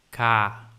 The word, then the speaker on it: 가: Em coreano ele é escrito dessa forma aqui e a gente o pronuncia como ka.